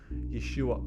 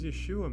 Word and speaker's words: Yeshua: thought Jesus was the Messiah actually called him Yeshua hamashia what does Yeshua mean Yeshua is Hebrew for Jesus well let